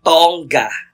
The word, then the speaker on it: Tonga: Sain sa lahat na ang pagpronounce po ng last name ko ay tongga in Lea salongga G palaung pangal salongga